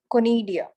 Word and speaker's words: conidia: How to pronounce the first one? Conidia, CONIDIA, conidia, sporangia, In sexual spores.